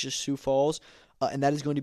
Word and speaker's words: Sioux Falls: I think I'm pronouncing that right. I think it's just Sioux Falls.